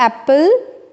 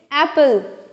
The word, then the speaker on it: एप्पल: ये एप्पल ठीक है इट्स नॉट एप्पल again it's एप्पल ए पर ज्यादा स्ट्रेस देते हुए एप्पल नेक्स्ट इज देखेंगे यहां